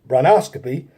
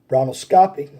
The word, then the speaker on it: bronchoscopy: The bronchoscopy involves, or the bronchoscopy, that's right, it's bronchoscopy. I apologize for the mispronunciation of the words. Some of these health words can be very difficult to pronounce. It's bronchoscopy. It's bronchoscopy.